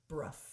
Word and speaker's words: Brough: Brough. Like rough with a B in front of it.